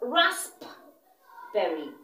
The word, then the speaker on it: raspberry: The letter P is silent. So it's not raspberry. It's raspberry.